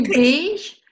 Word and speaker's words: Pech: Ich bin die Patricia Denner und daneben mir ist die liebe Pech. Gell? Wie spricht man das aus? Pech. Pech. Wie Pech, nur mit P, Pech.